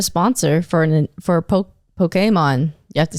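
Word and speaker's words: Pokémon: Pokemon. Pokemon. Yeah, that's how that is the correct pronunciation.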